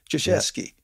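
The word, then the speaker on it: Krzyzewski: I was I remember reading something about Coach kraskevski I think this is how you pronounce his name Duke University's head coach joshesky that's correct thank you for helping me with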